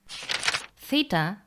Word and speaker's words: theta: Theta, pronounced like an aspirated t, t, but later became th, a fricative th.